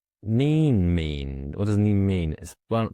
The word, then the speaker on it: Kneen: N mean? What does ne mean? Well, firstly, I just say it's a horrible name to have. Is it mean? N mean? Yeah. Silent K.